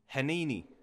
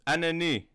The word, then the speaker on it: Heneni: Oh, it's Heneni. Heneni, oh yeah, French people don't pronounce the H.